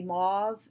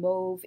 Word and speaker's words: mauve: pronounce in different ways some people will say mauve in America and move in Britain like Britain but then a lot of websites said even American English it should be pronounced move to rhyme with stove I mean that's what